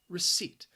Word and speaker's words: receipt: p that second syllable just sounds like seat receipt if you go and